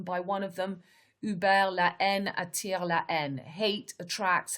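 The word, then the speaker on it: La Haine: the riots the n french pronunciation is la en which means hate is a 1995 french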